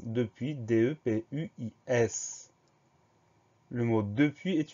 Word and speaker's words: depuis: souvent, c'est le mot depuis. Première syllabe de, D-E. Deuxième syllabe puis, P-U-I-S. On a donc une lettre muette à la fin, le S.